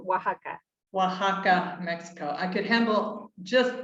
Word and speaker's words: Oaxaca: She currently lives in, help me out with the pronunciation. It's Huajuapan de León, Oaxaca. Oaxaca, Mexico.